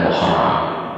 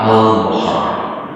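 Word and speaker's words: المحرم: lebih tepat istilahnya Ya itu bukan Muharam tapi almuharam ada alnya ya ada alnya tak mengapa kadang di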